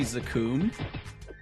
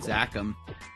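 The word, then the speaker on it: Zakum: But I guess I I heard that it's actually Zakun. I guess. Or that might be like the Korean pronunciation, but I've always said Zachum.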